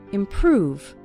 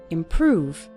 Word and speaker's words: improve: start seeing your English improve stress on the second syllable improve over time you'll start